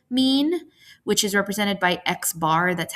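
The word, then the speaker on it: x̄: We also have a formula for sample mean which is represented by xbar. That's how you would pronounce this.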